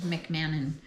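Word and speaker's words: McMahon: Uh, Mc just heard it pronounced McMannon that explores the life and worth of the 15th century polymath.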